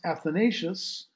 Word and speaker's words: Athanasius: The second guy, his opponent, Athanasios, commonly pronounced Athanasius, Athanasios, who also lived in Alexandria, serving as the 20th bishop of the church there.